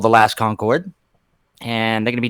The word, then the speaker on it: The Last Concord: The Last Concord, yep.